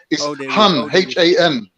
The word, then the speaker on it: Khan: no Kate in Khan h-a-n it means Lord of Prince it comes from the turkic I just typed in yeah so yeah but it's pronounced Han h-a-n but because the Turkish